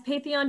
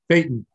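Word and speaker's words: Phaethon: Has Patheon been changing shape over time with all of the melting and losing debris? Almost certainly. Phaeton. A matter of fact, I said it wrong. Yeah. Phaeton.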